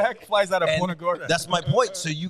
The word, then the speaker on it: Punta Gorda: Punta Gorda.